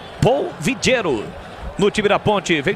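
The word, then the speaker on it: Paul Villero: A falta foi marcada oiro se escreve pau pa a u l v i l l e r o Mas como é colombiano Paul vigero no time da ponte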